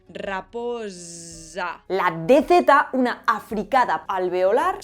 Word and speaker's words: raposa: La Z era una S sonora. Es decir, al pronunciar esa S tenemos que hacer que vibren las cuerdas vocales. Raposa.